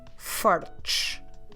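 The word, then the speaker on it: fortes: ending at e s what we do is that we drop the e and we just do the sound sh so see how it changes singular fart plural farch fart farch so this word literally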